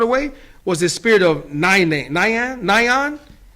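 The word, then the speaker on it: Nian: And that evil spirit that's trying to ward away, was the spirit of Nyan. It's spelled N-I-A-N. Nyan.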